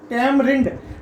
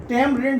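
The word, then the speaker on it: tamarind: है वहीं आपका थर्ड ऑप्शन है वो है तमरिंद टाइम रिंद जो किया जाता है वो इमली के लिए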